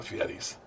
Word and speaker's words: Fieri: I'm here with the Fieris, Guy and Hunter Fieri.